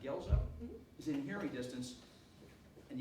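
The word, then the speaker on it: Guelzo: So if Professor, his pronounced Gelzo, is in hearing distance, and you have time, you go to read his book.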